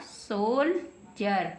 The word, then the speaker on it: soldier: तो SOLDIER बन गया सोल्जर। क्या बन गया? सोल्जर। डी को हमने जय पढ़ा है, बन गया सोल्जर।